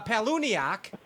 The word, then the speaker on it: Palaniuk: time Big Time and then uh Brandon uh paluniak is that how you say his name yes